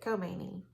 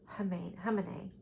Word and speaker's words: Khamenei: We used to say it Khomeini. And in the 70s and the 80s, Khomeini, but it's Khamenei.